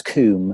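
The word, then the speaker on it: Combe: Is it pronounced comb or kum? Thomas kum.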